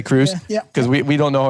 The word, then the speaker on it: Crux: Crux y so so it's Crux but you pronounce it Cruz um you can pronounce